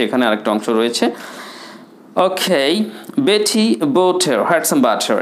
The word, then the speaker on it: Botter: Okay, Beti বোটার had some বাটার। এখানে বোটার, BOTTER, এটাকে বলবেন বোটা। রসাউন্ডটা সাইলেন্ট করেন নিয়ম অনুযায়ী।